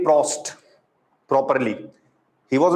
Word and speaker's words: Proust: This was said by Joseph Proust. Clear about it? Now, several times you will see that you will hear that I'm saying PF mix. So, don't think that I'm not saying Proust properly.